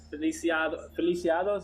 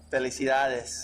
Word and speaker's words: felicidades: Feliciados, is that how you say it? Felicidades. Felicidades.